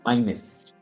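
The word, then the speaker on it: Máynez: His name is Jorge Alvarez Maynez. Young guy. What's the last name? Maynez? Maynez. Maynez? How do you spell that?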